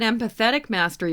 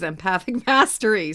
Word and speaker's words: Empathic Mastery: Some people call it Empathetic Mastery, but it is Empathic Mastery, so you got it.